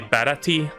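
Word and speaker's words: Baratie: for the sea restaurant Bharati a dose of help people say parity or but I think it's pronounced para para ta because that's how they say in the Funimation dub I don't know how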